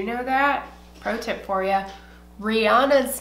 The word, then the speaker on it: Rihanna: that protip for you Rihanna's name is pronounced Rihanna just saying just saying if you search down the internet and find somewhere where she says name she pronounces it Rihanna okay so um yeah